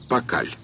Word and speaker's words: Пакаль: обнаруженными непосредственно на надгробии если следовать логике письма мая то имя этого правителя должно звучать как поля Но поскольку последний слог не произносится мы его называем пакаль защ от вражеских стрел